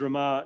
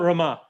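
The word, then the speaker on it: Ramah: rama we we know this city is rama now i'm pronouncing it the old southern way sorry um so i'll get i'll correct that built roma uh to prevent anyone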